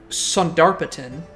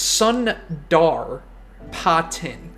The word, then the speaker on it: Sundarpatan: started calling this map saratin but I don't think it's saratin I think it's sundot Su depart s it so there's an R it's Sun dar poten Sunder poten Sun Sund